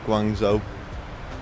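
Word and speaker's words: Guangzhou: Yeah, you're coming into um Guangzo. That's how you pronounce it.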